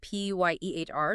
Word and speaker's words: Pier: We're talking about Carlo Acutis, and just so we get the pronunciation right, it's C-Arlo Acutis, Right. and Pier Giorgio Frassati. That's P-Y-E-H-R, Giorgio Frassati.